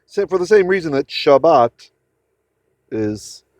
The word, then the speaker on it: Shabbat: That's why for the same reason that Shabbat is shabas, right? You might have always wondered why good shabas in Yiddish, right?